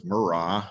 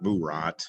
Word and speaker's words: Murat: how it's pronounced uh if you take a look at the french spelling it's murrah uh it's not burat it's not murat uh technically you can